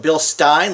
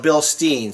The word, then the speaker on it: Bilstein: I call it Bilstein, like Frankenstein, but some people call it Bilstein.